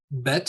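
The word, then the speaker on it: בית: with a left toe bet is pronounced as in ball Sheen is pronounced is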